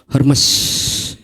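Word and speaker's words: Hermès: Kalau saudara punya tas asli, merek Hermes. Bacanya apa? Hermes katanya. Saya baru tahu bacanya Hermes.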